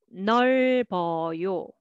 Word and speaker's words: 넓어요: And this one, first for the first syllable, and this one carry over. 짧아요, 짧아요. Next, 젊어요, 젊어요. 읽어요, 읽어요. And 넓어요, 넓어요.